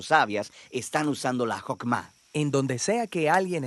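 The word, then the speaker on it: חכמה: Qué es esta fuerza en hebreo se pronuncia hokma y usualmente se traduce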